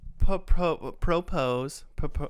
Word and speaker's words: propose: I'm gonna propose. I can't say the word. Propose is That's it. That's how you say it. accent on the pro.